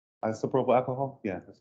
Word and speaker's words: isopropyl: It's IP, I think they call it an IPAC, but it's isopropyl alcohol. Yeah, that's how you pronounce it.